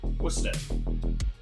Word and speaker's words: Worcester: Worcester sauce. And that, my friends, is how you pronounce it. Worcester.